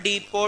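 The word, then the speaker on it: depot: In this case in this case the distance from one डीपो to another in this case the distance from one डीपो डीपो की spelling होती है डी ई पी ओ टी T silent होता है।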